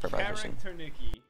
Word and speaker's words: Kharakternyky: Kharakternyky.